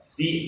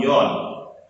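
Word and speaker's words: 四: Tadi angka 4 itu penyebutannya adalah si atau yon.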